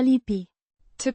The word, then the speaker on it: lipit: Past participle of A lipi. to paste or A lipi. to attach, meaning pasted or attached. Pronounced Lipit. with stress on the second syllable.